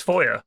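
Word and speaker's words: Feuer: word for fire in Foy in German it's foyer FL FL flam F foyer it's literally fire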